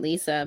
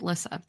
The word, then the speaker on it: Lissa: Oh, is it Lissa? I think you might be right. I think I was just pronouncing it Lisa, but I think you are 100% correct because it wouldn't have two S's if it was Lisa. Yeah, I think it's Lissa.